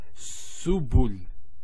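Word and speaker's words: سُبُل: So to pronounce this, has an S sound, so su, bu, and this is the lam, like the letter L. So subul.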